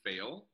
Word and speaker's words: Faill: my name is fail it is pronounced failed like to flunk but I have two L's on the end because you know go twice as hard so yeah I'm originally